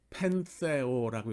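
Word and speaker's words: πενθέω: 애통하다라는 헬라어 동사는 펜테오라고 읽습니다. 펜테오.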